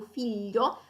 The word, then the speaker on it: figlio: pronunciare questo suono e lo pronunciano come se fosse appunto una doppia I, come dicevamo in yellow. Quindi lo sentirete molto spesso nel Sud Italia, quindi per esempio figlio pronunciato un po' come figlio, o famiglia, moglie, ok?